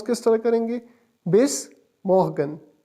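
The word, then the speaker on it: Bis morgen: ओ एस को pronounce किस तरह करेंगे? बेस मोहगन। बेस मोहगन।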